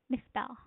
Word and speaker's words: misspell: Misspell. Misspell. So, the stress is on the second syllable. If you can see, misspell.